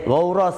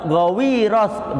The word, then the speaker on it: Ghawras: Tulis Ghawras namanya. Ada yang mengatakan di dalam hadis lain itu namanya Da'sur. Siapa, Pak? Da'sur. Ada yang bilang Da'sur, ada yang bilang Ghawras. Ada yang bilang juga Ghawiras, bacanya begitu, tapi Ghawras atau Da'sur.